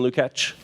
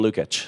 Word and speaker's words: Lukacs: So Martin Lukacs is, did I say that right? Martin Lukacs? Maybe shorten the second syllable. We were talking about this last night. So Martin Lukacs is a journalist who writes for The Guardian newspaper.